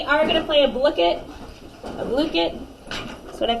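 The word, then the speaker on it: Blooket: of today we are going to play a blicket look it that's what I found out is how you pronounce it fun facts so I would take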